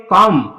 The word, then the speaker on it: comb: बी, तो बी यहाँ पे साइलेंट होगा, बी का प्रोनाउंसिएशन नहीं होगी। इसको क्या पढ़ोगे? कॉम। कॉम का मतलब होता है कंगा। बेटा कॉम्ब क्यों नहीं पढ़े? क्योंकि एम के तुरंत बाद अगर बी आता है तो उस समय बी साइलेंट रहता है।